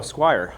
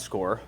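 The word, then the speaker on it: Scoir: about it so um when I first looked at this word I was like oh Squire um it's actually pronounced score but you know so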